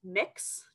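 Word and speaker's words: Mx: But if for some reason you feel the need to be formal, the honorific there is pronounced mix, just like you're mixing some gender stuff together and seeing what magic pops out today.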